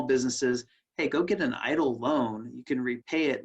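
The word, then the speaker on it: EIDL: very powerful there's also the economic impact disaster loans what's being pronounced idle loans these are long-term loans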